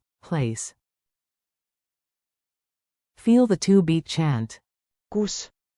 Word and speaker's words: kus: Kus like coos, but short.